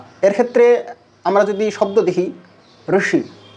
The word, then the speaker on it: ঋষি: অর্থাৎ মধ্যস্থানে যে উচ্চারিত হচ্ছে সেটাই হচ্ছে ঋকারের উচ্চারণ যেরকম কর্ম কর্ম রক্ষেত্রে আমরা যদি শব্দ দেখি ঋষি ঋষি এবং ককারের সাথে যদি ঋকারকে যুক্ত করি তাহলে